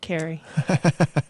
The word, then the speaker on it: Kari: is who Carrie yeah you just say it like that Carrie the first time you